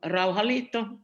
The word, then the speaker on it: Rauhanliitto: and for the finnish peace union the solomon rauhalito as it is uh pronounced uh i would say that we will